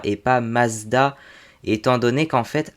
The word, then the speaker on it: Mazda: Mais en japonais, ça se prononce toujours Matsuda, et du coup, en allemand, c'est censé se prononcer Mazda.